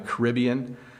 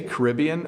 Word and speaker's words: Caribbean: or down in the Caribbean. We say Caribbean or Caribbean, by the way. There's 2 ways to pronounce it.